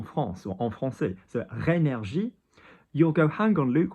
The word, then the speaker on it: rénergie: So if you look at the word rénergie, we've got R-E with an acute. So ré, not ren.